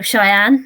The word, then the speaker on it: Cheyenne: I might be saying it wrong, but Hotel Cheyenne. That's how I say it. Oh, that's right. Spot yeah. on. Okay. As far as I'm aware, that's spot on.